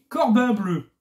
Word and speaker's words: Corbin Bleu: Alors, notre personnage qui est sur la jaquette, c'est Corbin Bleu. Corbin Bleu. Je vous jure, je le prononce pas mal. Hein, non, c'est vraiment écrit bleu.